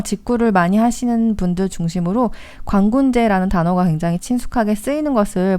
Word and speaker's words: 광군제: 직구를 많이 하시는 분들 중심으로 광군제라는 단어가 굉장히 친숙하게 쓰이는 것을 볼 수 있는데요. 광군제라는 것은 이게 중국어 발음을 그대로 쓴 거예요. 그러니까 광군제, 제가 무슨 축제제가 아니고 중국어의 찌에를 제라고 그냥 읽은 거예요.